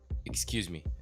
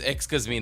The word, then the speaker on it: Xkazme: Excuse me. Xkazme. No, it's Xkazme, not excuse me. Shut up. That's how you pronounce that.